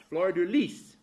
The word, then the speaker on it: fleur de lis: There's an American way, and there's a French way, and there's a way that the French scholars say it, too, and that's fleur de lis. Now, I all my life had pronounced it a certain way, and I was wrong.